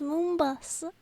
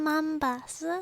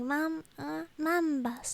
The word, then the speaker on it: Mumbus: I keep thinking your name's pronounced Moombus. I meant Mumbus. Sorry, Mumbus, not Moom. Mum like mum.